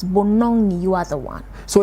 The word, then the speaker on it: Bonong: So it's not N-O-O. No, it's Bonong. So it's Bonong.